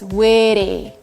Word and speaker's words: witty: In American, we replace T with an R. And the way we say it is witty.